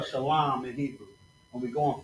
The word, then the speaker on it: Shalom: And then la and m is pronounced shalam, right? So we got to connect the l and the m making that line. Shalom. Just like that. Bam. That simple. Shalom.